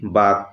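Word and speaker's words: bug: সবশেষ নিয়ম দেখো, দুটি কনসোনেন্টের মাঝখানে ইউ ভাওয়ালের উচ্চারণ আর মতো হয়, দুটি কনসোনেন্টের মাঝখানে ইউ ভাওয়ালের উচ্চারণ আ হবে। যেমন দেখো একটি শব্দ বি ইউজি, বাঘ, বাঘ।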